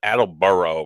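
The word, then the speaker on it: Attleboro: up on the map it's Adel burrow pronounced but it's actually was North Adel burrow but it's ad if you're from this area you know what I'm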